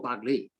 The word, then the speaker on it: Baghli: Baghli, how do you pronounce Baghli or Baghli?